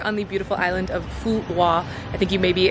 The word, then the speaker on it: Phu Quoc: In fact, the name of the island, a lot of English speakers pronounce the island Phu Quoc because that is kind of how it's spelled from an English-speaking mindset, Q-U-O-C, we would say Quoc or something along those lines. But I did speak to a few Vietnamese people who taught me that the correct pronunciation is something along the lines of Phu Quoc, so that's what I've been trying to say.